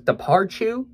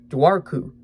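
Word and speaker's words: Dobhar-chú: c hu so I always thought it was dearu but it's daru which I think dearu sounds a lot scarier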